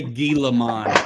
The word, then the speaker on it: Gilman: So, how are you not going to say Gilman? It's a It's a G, right?